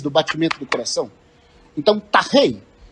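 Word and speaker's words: τάχει: Então você tem que falar tachei, e não takei, né?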